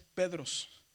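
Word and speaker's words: Πέτρος: Así que la pronunciación es Pedros, ¿verdad? Será a lo mejor usted dice Peter, Peter, ¿verdad? Bueno, en este caso es Pedros, ¿verdad? Porque estamos en este contexto.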